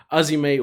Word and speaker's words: AZM: Our next match was Mayu Iwatani, the current IWGP Women's Champion, taking on Azime, or it's spelled AZM, but Azime, for obviously the IWGP Women's Championship.